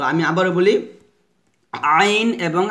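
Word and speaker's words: ع: আইন, আইনের 4 লিপ টান হবে। আমার সাথে পড়েন আইন। আবার বলেন এভাবে চাপ দিয়ে বলতে হবে আইন।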